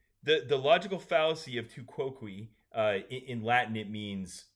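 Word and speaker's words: tu quoque: ahead to cqui the the logical fallacy of tuqui uh in Latin it means you also is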